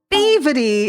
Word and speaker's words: Brevity: B Revity, that was that's how you say her name.